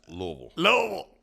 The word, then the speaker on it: Louisville: You got to get it right. It's Louisville. I can say it like that.